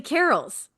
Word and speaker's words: carrel: always called them study carols wait how do you spell it okay c a r r e l but we always call them stud carols so you say it like Christmas Carol but yes yeah I